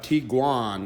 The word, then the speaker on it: Tiguan: got a 2012 VW tiguan that's how it's pronounced in Germany that actually means tiger